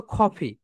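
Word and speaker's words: coffee: সো my dear soldiers, যখন তোমরা কফি বলতো, খ ফি, রাইট প্রোনাউন্সিয়েশন কি বলতো? কফি, খ ফি।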